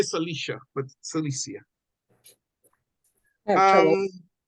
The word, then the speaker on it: Cilicia: Cilicia. That's what it is. And If it he. Some was may say, one some word may say, together, I would know it. some may say Cilicia, but Cilicia.